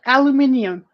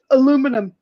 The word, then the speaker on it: aluminium: in Canada, we say aluminum, Yeah, we say Yeah. aluminum in America too, but it's wrong. but it's aluminium. It's aluminium because that's how it's spelled.